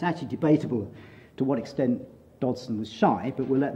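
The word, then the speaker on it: Dodgson: context and it is Dodson by the way the g is silent it's not just a strange way I pronounce it so to begin with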